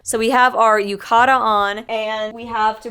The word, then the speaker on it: yukata: before I can't remember the word yucata but I've been saying it wrong like the entire trip so we have our Yukata on and we have